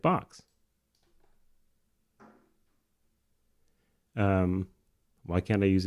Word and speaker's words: Bochs: the frequently asked questions how do you pronounce it like box um why can't I